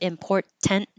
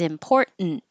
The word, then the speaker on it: important: you it's important so instead of important this is a syllabic n meaning the N becomes its own syllable so your tongue goes up for the T import and you make the N noise it's important du we're making this to